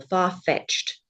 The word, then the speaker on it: far-fetched: It would go on the second syllable. Far-fetched.